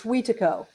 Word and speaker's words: Wetiko: that's it's Wetiko. Wetiko is how you say Watiko. that. Wetiko. Yeah, there are like four main Cree dialects, and so depending on sort of which dialect you're using, how you pronounce it is a little bit different.